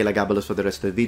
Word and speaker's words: Elagabalus: you who love Latin, I will pronounce now the nickname of the emperor once within the correct reconstructed pronunciation in Latin. Elagabalus. Phonemic vowel length expressed. Now I'll just say Elagabalus for the rest of